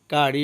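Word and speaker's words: curry: কারি অর্থ তরকারি, কারি অর্থ তরকারি। এখানে কোনো ওয়ার্ডের মাঝখানে যদি দুইটা ওয়ার্ড একই ধরনের দুইটা অ্যালফাবেট একসাথে থাকে তখন একটার উচ্চারণ হবে, যেমন আর এখানে ডাবল আছে কিন্তু একটা আরের উচ্চারণ হবে।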